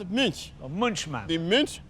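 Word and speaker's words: Münch: It has an umlaut, so I must pronounce it as Munch.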